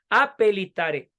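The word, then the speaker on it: appellitare: p y doble l se escribe a pellitare repito y se pronuncia apelitare Llamar varias veces ahora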